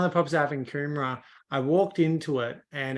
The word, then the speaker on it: Coomera: Yeah, Coomera. Coomera. Yeah, so one of the properties I have in Coomera, I walked into it and it has, big doorways, big kitchen.